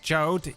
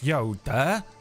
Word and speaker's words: Jode: It is not pronounced Jode. It is Yoda.